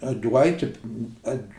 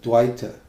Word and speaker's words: dvaita: teachers these this modern dwight at dwight or advaita they call it they don't even pronounce it properly the actual pronunciation is that dwita dwight means duality and